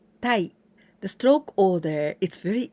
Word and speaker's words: 待: This kanji is the verb to wait, 待ちます to wait, but also we can pronounce in onyomi, tai.